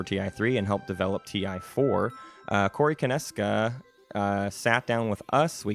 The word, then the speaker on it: Konieczka: We're here with, and I want to get the canonical pronunciation of your last name. Konieczka.